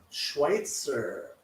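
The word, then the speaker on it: Schweizer: close enough close enough Schweitzer okay okay yeah it's it doesn't have the T in it but you say it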